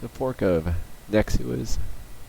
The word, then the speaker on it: Nexuiz: It's a fork of Nexuiz, spelled Nexuiz.